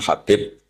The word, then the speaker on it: Habib: Ada yang nulis Abi Abdurrahman Habib Asulami. Itu di harakatnya kitab itu ada yang nulis Hubab. L yang benar. Oh nggih. Yang benar itu bacanya habib.